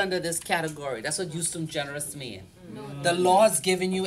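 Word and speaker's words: ejusdem generis: So you normally would see this used in agriculture, Pronunciation. justum generis.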